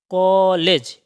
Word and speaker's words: कॉलेज: है यह है कॉलेज कॉलेज यह को भी नहीं कहा जाएगा और का भी नहीं कहा जाएगा ओ और आ के बीच का उच्चारण होगा कॉलेज यह आगत स्वर है